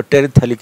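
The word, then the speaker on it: terephthalic: मैं पूरा का पूरा इसलिए बोलता हूँ ताकि ये प्रोनाउंसिएशन में दिक्कत ना, प्रोनाउंसिएशन में PH साइलेंट रहता है, तो टेरेप्थेलिक एसिड बोलते हैं।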